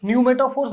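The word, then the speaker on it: pneumatophores: roots को जो है newmatofors बोलते हैं ठीक है ना इसकी स्पेलिंग पी से स्टार्ट होते हैं ठीक है न्यू मेटा फोर्स बोलते हैं उनको तो उनकी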